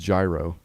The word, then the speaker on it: Jiro: and or zero yeah I think it's pronounced gyro that right yeah not like the video game gyro copter mm-hmm or the